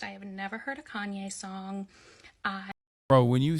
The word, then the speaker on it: Kanye: has 45 likes though I used to pronounce his name Kane because I'm a little dyslexic and that's how I read it but I was part